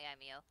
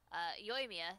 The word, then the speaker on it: Yoimiya: Not Yaimyo. Yoimiya.